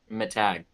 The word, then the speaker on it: Matag: Matag. That's what I thought. For some reason, I kept flipping back because I couldn't remember if he said my tag or Matag.